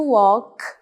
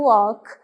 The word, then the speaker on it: walk: Como se esse L não existisse e o A tivesse som de O, então to walk, caminhar.